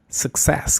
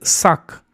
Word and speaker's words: success: Success que significa eh éxito. La primera u representa una vocal reducida, es decir, una shua.